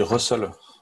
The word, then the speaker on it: rustls: On dit Russell. Ouais. Moi, je me suis arrêté là. Dans le papier, il y a marqué Pronounced Russell.